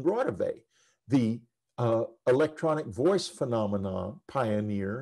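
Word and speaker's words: Raudive: i realized of course he was mispronouncing it it's constantine rotavey the electronic voice phenomena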